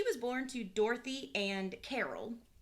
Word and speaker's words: Karel: She was born to Dorothy and Carol. Her dad's name is spelled Karel, but I'm pretty sure it's pronounced Carol. Okay, because I was like, wait a minute.